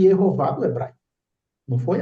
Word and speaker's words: Jeová: que jehova é inglês mas jehova reflete e jehová do hebraic não foi à toa ele vem